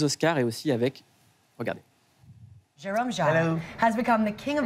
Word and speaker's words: Jérôme Jarre: I mean, in French we say Jérôme Jarre, but I'm not gonna ask you to say Jérôme it.